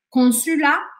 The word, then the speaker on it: consulat: Então, por exemplo, esse T ao final da palavra consulat não pode ser dito. Você não pode falar consulat, tá? Consulat, nada disso.